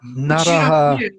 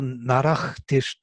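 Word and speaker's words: नरः: Naraha. You do the ach thing so that you don't have to add the syllable. Yeah, they don't do narach karoti. They would say naraha karoti, naraha.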